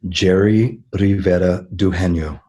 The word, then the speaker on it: Jere Rivera-Dugenio: having me Laura and my name is pronounced jerry rivera Doohan yo oh good I'm glad